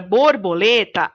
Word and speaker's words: borboleta: Na palavra borboleta, a sílaba mais forte é a sílaba lê.